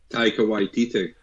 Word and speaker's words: Taika Waititi: So Jojo Rabbit, movie out in 2019 by the director that I can never pronounce his name, so Daniel's going to throw his name out right now. Taika Waititi.